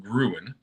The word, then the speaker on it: Grown: The new Halloween edibles from Grown, pronounced Gruen, continue the company's history of seasonal product releases.